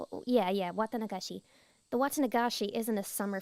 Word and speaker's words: Watanagashi: I'm gonna do my best to pronounce this word. I think it's Watanagashi? Yeah, Watanagashi.